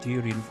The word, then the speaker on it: durian: It's durian. It's pronounced durian.